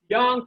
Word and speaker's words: Yang: dong style tai chi yang is spelled y a n g young 24 form but it's